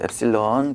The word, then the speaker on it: 엡실론: 엡실론이라고 읽어요. 엡실론.